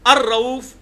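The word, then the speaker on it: الرؤوف: लिए आएगा तो अरफ अलिफ लाम के साथ लाम बीच में साइलेंट हो जाता है क्योंकि र आया उसके बाद तो अर रऊफ अर रहीम तो किसी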